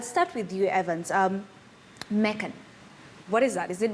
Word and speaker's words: Mekan: uh it's pronounced as mikan mekan which is just a combination of two words that's me and khan meaning that you can